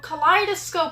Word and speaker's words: kaleidoscope: Oh, you actually don't know how to pronounce it. K or ka liidoscope. Oh, kaleidoscope.